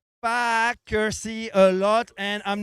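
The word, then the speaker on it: Faaker See: starting line slowly taking shape, and on the Fackersee Lake. So if you're joining us now, I'm gonna say Fackersee a lot, and I'm not cursing, so don't turn off your YouTube live stream.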